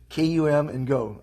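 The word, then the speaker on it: Kum & Go: i thought was interesting they said come and go kum and go gas station and supermarket come and go they spell it k-u-m come and go okay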